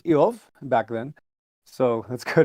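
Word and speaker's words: איוב: If you're curious about how they pronounced Job, it was Eov back then.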